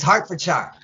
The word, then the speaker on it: Hertfordshire: It's Hartfordshshire.